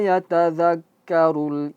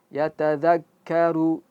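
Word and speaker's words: يتذكّر: Di situ perhatikan ka k kan-nya tasdid. Yatazakkaru. Yatazakkaru. Nah, khusus untuk ka ketika diucapkan ada sedikit keluar sedikit saja jangan terlalu banyak. Ka ka ka yatadzakkaru ya. Jangan sampai yatadzakkaru dan itu terlalu berlebihan tidak bagus dalam ilmu-ilmu tajwid.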